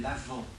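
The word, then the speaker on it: Avent: de préparation qu'on appelle l'avant parce que la venue de Jésus l'avant ça s'écrit a V e nt c'est pas une feu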